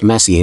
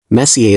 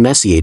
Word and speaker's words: Messier: well young lady the m stands for Messier pronounce Messier not Messier is in is your room Messier then M Charles Messier I mean Messier to be precise was a French astronomer in